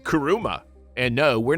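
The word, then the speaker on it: 車: car screening in Japan the term car is pronounced differently it's called karuma and no we're not referring to the demon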